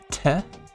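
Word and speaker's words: て: Next we have te, which looks like a T and you're gonna spell it 10, te, te.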